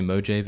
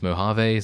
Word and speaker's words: Mojave: By the way, the reason I say Mojave is because of it's a joke reference. It's not actually me thinking that that's the correct way to say it. But thank you very much for letting me know. Anyway, I know it's Mojave.